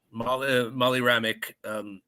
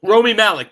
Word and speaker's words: Rami Malek: Let's get down to the villain, Safin, Molly Ramick. Molly Ramick, is that it? Yeah. Rami Malek. Am I saying it right? Rami Malek. Yeah. Rami Malek, that's it.